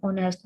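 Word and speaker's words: honest: For example, an ऑनेस्ट मैन, ऑनेस्ट ओ की आवाज दे रहा है, ठीक है ना, एच इधर साइलेंट है तो इसलिए एन ऑनेस्ट मैन, तो हम लोगों ने एन पुट किया है।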